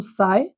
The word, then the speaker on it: साई: ये जो साई है, जो दोनों जगह पे लिखा हुआ है, जिसको PSI स्पेलिंग है लेकिन इसको साई पी साइलेंट पढ़ा जाता है, इसको वेव फंक्शन बोलते हैं।